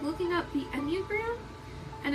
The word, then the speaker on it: Enneagram: One of the greatest things, and this could be the homework for today, um is like looking up the Enneagram. And it's spelled like this, E N N E A G R A M.